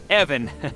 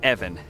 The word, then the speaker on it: Evan: more question ask away Evon it's it's pronounced evan short guttural i wanted to ask